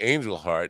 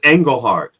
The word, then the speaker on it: Engelhart: I think it's Engelhart. Engelhart? I mean, well, it's spelled Engelhart. Engelhart. It's from the German, which angel and then heart is in brave.